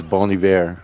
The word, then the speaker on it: Bon Iver: So it's Bon Iver, like good winter in French.